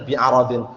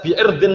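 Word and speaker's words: بِعَرَضٍ: Oh, berarti maknanya bacanya bi aradin. Kalau kita baca bi irdin minad dunya berarti apa? Menjual agamanya dengan kehormatan daripada dunia.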